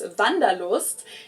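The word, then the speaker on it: Wanderlust: It's kind of an old-fashioned German word that we pronounce vandaloost and it's literally the desire to wander.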